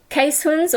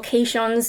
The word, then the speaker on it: Keeshonds: So, Lappies, Keeshonds, or Keeshonds, if you're going based on how it looks like it's spelled.